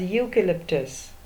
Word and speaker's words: eucalyptus: we call it as eucalyptus it does not begin with a vowel sound it begins with a year sound and the last one